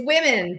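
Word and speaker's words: womxn: me pronounce w-o-m-x-n correctly well it's women but there's controversy behind this when the book was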